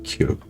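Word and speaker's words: 키읔: Kyuk se prononce avec un souffle d'air fort et prononcé. Posez la main devant la bouche. Vous devez sentir un jet d'air chaud. Quand vous dites kyuk, pas une brise légère, un vrai souffle.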